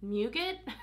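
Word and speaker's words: muguet: It says on here the notes are nougat, I say it like nougat but with an M, violet leaf, golden gardenia, jasmine, Australian album sandalwood, and Virginia cedarwood.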